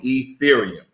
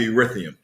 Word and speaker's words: Ethereum: ethereum okay thank forever all the people who chimed in yesterday who helped me pronounce that word i've been practicing all morning ethereum okay hopefully that's not wrong because i'm gonna just go back to eurythium but nonetheless um stellar